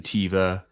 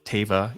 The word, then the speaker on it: Teva: one I'm going with there have been different iterations of it Carson tiva Teva uh but uh Teva is how John pronounced it so I went with that okay yeah Kev can't